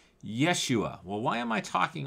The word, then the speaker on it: Yeshua: joseph was hebrew and the hebrew name is yeshua yeshua sometimes people say it is yeshua you uh if you